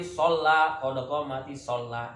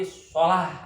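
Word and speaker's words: الصلاة: Qodoko mati sholat. Itu salah. Lamnya enggak bertasdid. Qodoko mati sholah aja, bukan sholat tapi sholah.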